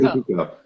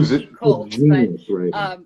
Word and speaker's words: Picoult: And I just, it's based on is it Jodi Picoult or Jodi Picoult? I'd never known how to pronounce it. Yeah, Jodi Picoult. Yeah, it's spelled like Picoult, but I think fantastic.